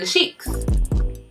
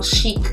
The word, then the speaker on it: Chic: These are in the style Chic, and that's spelled C-H-I-C. Not chic, it's chic, okay?